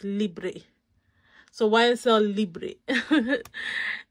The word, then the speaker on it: Libre: you pronounce it and she said it's a bug bear that she hates it when people pronounce it as lib that is actually libre so it's libri so why is cell